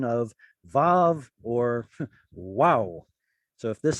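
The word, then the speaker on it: וָו: Because mem, pay, and bet are bilabials, it tells us that vav was also a bilabial. What? Yeah, a W is a bilabial. Wah. You pronounce it with 2 lips. So that even the Masoretic scribes who, well, I'm not going to say they're the ones who said pronounce vav as v.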